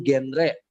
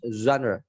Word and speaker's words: genre: Oh, gendre. Oh, genre genre musiknya pok. Nah, ini bacanya zanre. Zanre. Zre. Oh, ja. Bukan pakai je, tapi di zan.